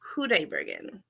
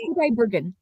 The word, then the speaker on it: Qudaibergen: That's pretty close. It's Qudaibergen. Qudaibergen. Dimash Qudaibergen. Yes, Qudaibergen. So you might see it spelled with a K, but he adopted the Q because his name as spelled in the chat.